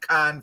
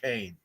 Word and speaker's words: Caen: proud of Was it Con or is it pronounced Kane? Because it's either way.